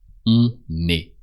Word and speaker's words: on est: And I know it's a bit weird, but you pronounce the N as if it was part of the second word.